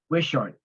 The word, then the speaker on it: Wishart: Andrew Pickett 221 West worship Street he's on the hearing okay not responding and we're maybe we're pronouncing it incorrectly is West wishart w-i-s-h-a-r-t Street you probably just need the